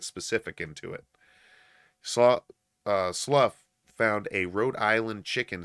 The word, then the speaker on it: Slough: sergeant wen joel slaw slow i i don't know how to do that i probably butchered that slow it's left slough it's l u f f that's how that okay particular wording is pronounced sergeant when joel slough